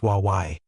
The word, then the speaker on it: way: The soul, or way, pronounced Wawai, was a spirit double